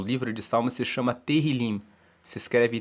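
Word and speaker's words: Tehilim: o nome o livro de salmo se chama terril se escreve t e h i l i m terril e significa louvores o livro de Salmos se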